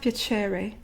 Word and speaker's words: piacere: When you pronounce piacere, pay attention, it's not piacere, it's not piacere, it's not piacere, it's piacere, piacere.